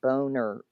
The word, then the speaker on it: Boehner: Well, it is Boeh. I know. There's no A sound there, in my opinion. Boehner. It's Boehner. Phonetically speaking.